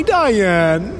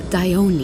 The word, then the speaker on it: Dione: Hi, Dione. It's Dione.